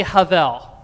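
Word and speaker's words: הבל: Let me hear you all say havel. Excellent pronunciation.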